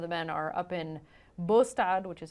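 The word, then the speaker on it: Båstad: Palermo some of the men are up in bostad which is how you say that word up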